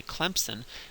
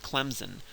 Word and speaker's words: Clemson: If you say it like a good Southerner and you say Clemson, you put a P in there, and there's no P in the word if you look at it. Sometimes people from up north will pronounce it Clemson with a Z, and there's also no Z in there.